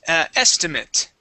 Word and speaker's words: estimate: please estimate okay and that would be pronounced estimate that ATI is pronounced as an IT estimate estimate okay good